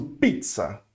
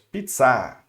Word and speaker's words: pizza: Eu vou pronunciar com a forte, pizza, ok? Então, por quê? Isso acontece porque é uma palavra estrangeira, e como é uma palavra estrangeira, os franceses, eles sempre pronunciam a sílaba forte, a última, ok?